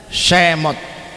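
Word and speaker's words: שמות: Bible ini bacanya Shemot. Ini sin yang kayak W itu sin. Ini mem, ini a, ini alif, ini ta, tet, Shemot.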